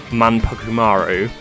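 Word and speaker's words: Manpukumaru: My Favorite progression is the comic relief character manumaru if you PR that's how you pronounce her name a character that loves food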